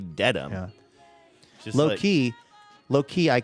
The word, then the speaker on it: Dedham: One of those Massachusetts places that I'm always wondering if I'm saying it correctly, but I think I did all right? Dedham? You did great. In fact, I was thinking maybe instead of saying dead ass, because you tried that once on the show